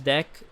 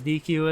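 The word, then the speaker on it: deque: Even when I learned that the pronunciation was deck, like it sounded like the English word de e ck.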